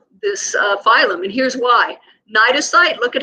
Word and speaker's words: cnidocyte: You do need to know what cnidocytes and nematocysts are.